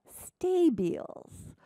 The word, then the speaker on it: stabile: that he would call stabiles. Stabile. I've heard them pronounced various ways, but I kind of like stabile as a counterpart to mobile.